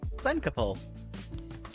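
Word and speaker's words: Glencaple: Glen Kapul Cap like Okay. Temple. Glen Kapple. Glen Kapul. That is how it's pronounced.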